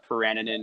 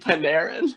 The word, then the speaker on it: Panarin: game and the free agency here, like the Peraninen and Bobrovsky class. Wait, the who? What was the P name? Peraninen. Peraninen? Yep, that's his name. Absolutely 100%. Artemi Panarin?